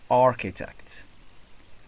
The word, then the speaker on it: architect: So instead of pronouncing CHR, we pronounce it as K.